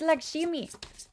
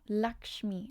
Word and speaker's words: Lakshmi: It's laximi. Yes. Invoke those. Lakshi. Lak. No. Lakshmi. Lakshmi. Am I even pronouncing it like a little bit correctly?